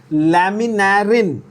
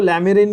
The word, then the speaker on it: laminarin: There are two more examples of complex carbohydrates, especially found in brown algae, in the form of laminarin. Again, pronunciation very important. Public इसको laminarin बोलती है, बहुत गलत, ध्यान से देखना।